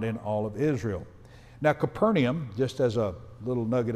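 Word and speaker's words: Capernaum: is the word uh in the Hebrew or in the Greek it would be pronounced a little bit closer to kaar nahm kafar naham and actually what that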